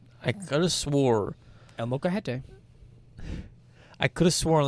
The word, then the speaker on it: Molcajete: This week, we went to El Molcajete, which is a local Mexican restaurant that Ben, my friend, showed me.